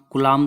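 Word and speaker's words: Coulomb: तो आप कुलाम बोल दो, COU, ओ को साइलेंट करके, ठीक है। उसको आ से पढ़ लो, कुलाम ला हो जाएगा, ठीक है।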